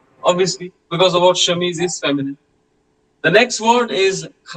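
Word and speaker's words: chemise: now um next one shamis the word shamis means as you No C and H together will be pronounced as sh.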